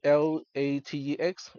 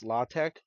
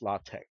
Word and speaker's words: LaTeX: is Greek that's why it's not pronounced latex it is pronounced latte without the s sound it's a type setting